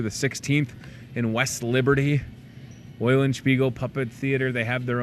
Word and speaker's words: Eulenspiegel: Thanks to Monica Leo with the Eulenspiegel Puppet Theater. At least I didn't say it wrong. How about that for a Monday? I've said it right all the times. Eulenspiegel Puppet Theater.